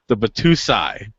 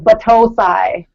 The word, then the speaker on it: Batosai: the newest from the Batusai. Did I say it right that time? No. Oh, come on. Think about a toe, like Batosai.